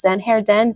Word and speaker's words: Zen Hair Den: by Ash and again these names are pronounced just as they are written on Instagram so that's Zen Hair Den z n h a